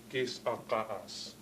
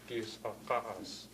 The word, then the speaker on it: Gitksan: out to me that she pronounces the name as Gitksan. Gitksan, where you see you have ska here and S glottal stop A, Gitksan. But you notice the git, the T comes off the git right there.